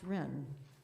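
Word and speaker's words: Reine: Ren, 61 William Street, Hempstead. Oh, my first name is spelled R-E-I-N-E, and it's pronounced Ren.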